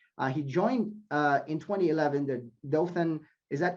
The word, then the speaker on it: Dothan: He joined in 2011 the Dothan, is that correct? Am I pronouncing that correctly? Yes, Dothan Perfect.